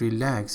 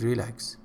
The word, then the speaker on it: relax: So, and the other mispronunciation is relax. He said relax. Relax. Stress is really important. Particularly, native speakers can detect if you do not follow stress patterns immediately.